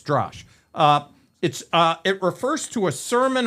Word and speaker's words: Drash: I think I'm pronouncing it correct. Drash. Drash. As I looked at the Hebrew, it's Drash.